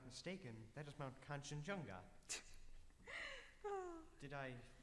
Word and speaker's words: Kanchenjunga: And if I'm not mistaken, that is Mount Kanchenjunga. Did I say it wrong? Kanchenjunga? No, sir. You pronounced it most correctly.